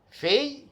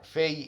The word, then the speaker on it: Phi: Then the letter Phi. The letter Phi, its pronunciation is like F in English.